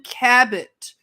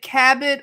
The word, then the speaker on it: Cabot: her name was susan cabot you you may pronounce it cabot or cabo cabinet i remember her